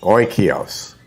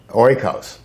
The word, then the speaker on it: Oikos: to ruin the name it's spelled ok io o-k-i-o's uh oy kios like as in oy vey oikos okay thank you oikos